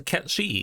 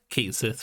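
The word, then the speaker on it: Cait Sith: Oh hey, it's a Ket-Shi, except for it's not, because I'm pretty sure the actual pronunciation is Kate Sith for it, which is strange, but it's fine.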